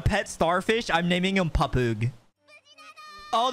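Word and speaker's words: Pappag: starfish I'm naming him papug oh the way to pronounce his name is pop popagu bro this man hot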